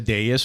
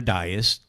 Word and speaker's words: dais: We call this a dais or a dais, different way to pronounce it.